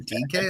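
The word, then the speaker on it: Dike: I was like, last name DK? That's crazy. DK. That's how that's pronounced, ladies and gentlemen.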